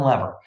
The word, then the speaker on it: Lever: and they're very trustworthy because they come from Lever in Canada they all say lever and in